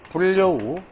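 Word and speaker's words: 불여우: 최종적 발음이. 따라서 솔립 리을 다음에 얘는 설릭다 이렇게 다음에 얘는 불려우 리을로 자 여기는 서울역 이런 식으로 마치 이런 과정을 생각하면 이해가 되는데 그냥 딱 두고 보면 뭐예요?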